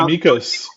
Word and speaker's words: Mykos: brand like what's behind it is it it mikos is that pronouncing it correctly yeah yeah mikos like what's it mean well we wanted it